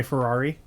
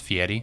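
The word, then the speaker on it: Fieri: the other day guy ferrari a guy for diners drive and die you know it's actually pronounced fiery yeah i know but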